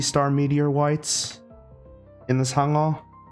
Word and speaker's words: Sangeo: Sangeo. Like, what's an easy way to like teach how to pronounce it? So like Sang So think like taco, like the way you say the A in taco, ta.